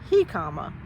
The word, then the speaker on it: jicama: I found out, number 1, that JICAMA for this vegetable is pronounced JICAMA, not JICAMA or JICAMA or whatever I said before. It's JICAMA.